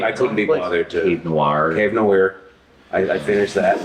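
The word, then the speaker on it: Cave Noire: Cave Noir. Cave Nowhere. I finished that. Nowhere. Cave Nowhere.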